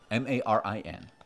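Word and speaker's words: Marin: are you like tat pronounce it ma Rin and he's Tallinn ta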